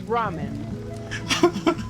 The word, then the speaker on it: ramen: They're like, "Oh, yeah, I know what Raymond is." I'm not. No, but it's ramen.